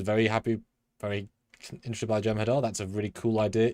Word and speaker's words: Jem'Hadar: Do you mean Jem Hadar? Because that's not how you spell it. Um, Jem'Hadar. Gemma Dar.